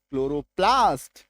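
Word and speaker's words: chloroplast: तो ये देखो CHL ORINE क्लोरीन, क CHL ORID chloride, CHL OROFM chloroform, CHL क्लोरोप्लास्ट, CHL क्लोरोफिल, CHLORL क्लोरल, है ना। तो बड़े से बड़ा शब्द, बड़े से बड़ा स्पेलिंग, है ना, रूल हमारा सेम रहेगा, है ना।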